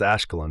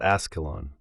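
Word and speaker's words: Ashkelon: Tell him it's Ashcolon, not Ascalon.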